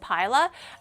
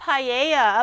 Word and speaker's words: paila: It's actually pronounced pila. I was right. I Anybody from Chile want to give me an honorary Chilean passport? It's actually pa. Vala looked it up. It's not paella.